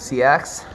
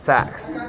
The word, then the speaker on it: Seax: blades lead vocalist and see axe right where does the name come from well the word is actually pronounced sex we say see axe